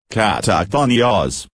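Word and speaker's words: καταχθόνιος: one Greek word, that is, katakhonios, which is pronounced katakhonios.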